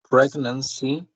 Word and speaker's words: pregnancy: So pregnancy has three syllables, and the stress is in the first one.